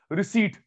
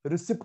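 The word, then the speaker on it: receipt: रिसीट, दिशा, रिसीट बोलते हैं, रिसिप्ट नहीं बोलते। ओके। बहुत सारे बच्चों को, बहुत सारे टीचर को गलत बोलते सुना है। ओके, रिसीट, रिसिप्ट नहीं, पी साइलेंट होता है।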